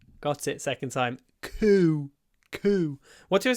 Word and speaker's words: coup: You need to start with a proper k with your mouth open and then coup and then close it.